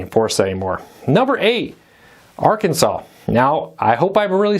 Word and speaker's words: Arkansas: there and it is one of those names that can be easily mispronounced with the silent s's and different things all